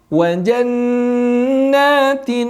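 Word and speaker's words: جَنَّاتٍ: Dan terakhir di ayat ke-16 wa jannatin jannatin. Jangan tergesa-gesa bacanya dengan menahan dulu huruf nun sebanyak 2 harokat.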